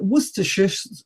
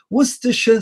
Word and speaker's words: Worcestershire: Now, Worcester isn't so famous for foreigners, but what most foreigners who like cooking know is Worcestershire, sorry, I've said it wrong now, Worcestershire sauce.